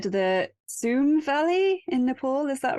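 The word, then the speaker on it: Tsum: pronunciations of these names but you said the soon Valley in Nepal is that right if I said that right zoom zoom yep mount kailash kailash kailash in Tibet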